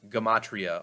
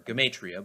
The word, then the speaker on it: gematria: You might also hear this word pronounced as gematria or gematria, but it's all the same thing.